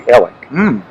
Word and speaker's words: Alec: in the south alex often becomes elec my cousin was named alex and he said please call me ellick the former president of the college of charleston was a friend of mine and he pronounced his first name alec too alexander yeah so